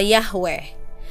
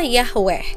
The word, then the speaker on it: Yahweh: menggunakan konsonan yhwh Hai dari huruf-huruf inilah para ahli Alkitab modern mendapatkan nama Yahweh sebagai pengucapan yang paling mungkin Sayangnya tidak ada yang tahu apakah ini pengucapan yang benar atau tidak bahasa Ibrani kuno tidak memiliki vokal dan adalah tabu untuk mengucapkan nama Ilahi dengan demikian pengucapan yhwh yang sebenarnya perlahan-lahan hilang Kebanyakan orang percaya bahwa itu diucapkan Yahweh tapi tidak ada yang